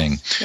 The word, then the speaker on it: Ng: Okay, I was really taken aback by the material from Kohler and is it pronounced Ng? Yes. How do you pronounce that? Yes. Ng.